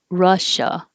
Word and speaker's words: Russia: quite different than the russian pronunciation we say moscow with a real ow moscow and this is also very different russia with an uh uh in both vowels russia thirsty and this